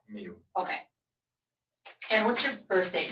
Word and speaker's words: Miu: last name m i how you or how do you pronounce that me okay and what's your